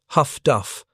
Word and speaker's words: HF/DF: What Schwantke and thousands of other U-boat men did not yet understand was that Allied technology called HF/DF, pronounced Huff-Duff by the sailors who operated it, had transformed submarine warfare as fundamentally as sonar had.